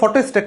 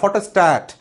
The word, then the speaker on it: ফটোস্ট্যাট: তো প্রথম কথা, শব্দটা তো ফটোস্টেট না, ফটোস্ট্যাট।